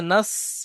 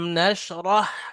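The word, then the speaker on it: نشرح: sorry আলাম লাকাটা আছে এখানে নাস পড়লে ভুল হবে নাস পলে সিন উচ্চারণ হয়ে যাচ্ছে যেটা নুক্তাবিহীন সিন কিন্তু আছে এটা নুক্তাওয়ালা তালবে মোটা আনটির মত আওয়াজ হয় ওটা সিন হয় দন্তে আলাম না বড়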